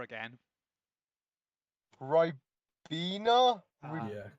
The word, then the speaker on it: Ribena: Pronounce that word that starts with an R again. Ribena?